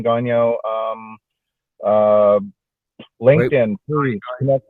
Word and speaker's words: Gagnon: So the last name is Gagnon, and it's pronounced Gagnon if you're French. Gagnon. But for everyone else, you can say Gagnon.